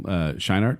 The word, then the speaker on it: Scheinert: I mean, everything was pointing in this direction anyway, but then Daniel Kwan and Daniel Scheinert, is that how you say his name?